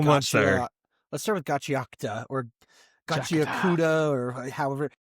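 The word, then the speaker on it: Gachiakuta: Let's start with Gatchiakuta or Gatchiakuta. Gatchiakuta or however. Gatchiakuta. They said it's wrong to say it Gatchiakuta. Phonetically, that's how I read it, but apparently it's Gatchiakuta.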